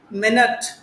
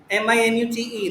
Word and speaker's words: minute: Minute, minute, that is minute. But if you say minute, it will become very tiny.